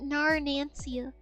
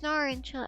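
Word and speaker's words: Narancia: I used to pronounce it Nar Nansia, but it's it's Nar and Chill.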